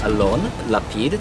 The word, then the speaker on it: Alon Lapid: Of course, my name's Alon Lapid. That's spelled A-L-O-N-L-A-P-I-D.